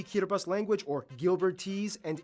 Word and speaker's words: Kiribati: language thing going on the alphabet only has 13 letters and no s's so they substitute the S with a t i for some reason hence Kira bus in kiribus it's kind of a